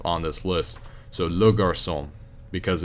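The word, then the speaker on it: garçon: first now you know wait yeah okay it's Garcon gosh I talked about this in the first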